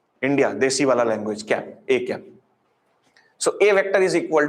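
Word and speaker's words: â: How it is pronunciated? It is pronunciated as A cap. It is pronunciated as A cap or A hat.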